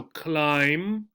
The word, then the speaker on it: climb: they are climbing so climb right and the B on the end right A good rule the